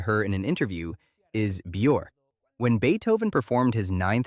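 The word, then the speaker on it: Björk: In addition, the correct way to pronounce it according to her in an interview is Bure.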